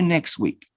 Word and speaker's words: next week: that you're going to say it like the word next the plural no the body the part of the body neck plural next next next similar all right i'll change you next week next week and next week that sound is omitted you don't pronounce the santa so here you